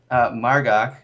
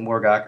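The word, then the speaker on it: Mar'gok: like I said earlier, Imperator Margok, I got a little heat in chat for pronouncing it Morgok earlier. Morgok just sounds more, or ogre, but regardless, it's a very good fight for us.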